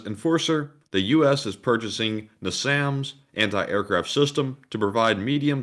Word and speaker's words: NASAMS: Is that spelled like N-I-S-A-M-S? It's NASAMS. NASAMS.